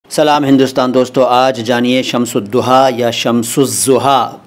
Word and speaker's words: Shamsudduha: है कि यह शब्द शमसुद्दूहा है बता देता हूं ध्यान से सुनिए देखिए दोनों उच्चारण दोनों तलफ्फुज सही हैं अगर आप अरबी अंदाज में पढ़ें तो यह शमसुद्दूहा हैं तो यह शमसुज्जमां का